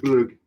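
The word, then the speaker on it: glögg: Glogg. Glogg. Yeah, that's how it's spelled.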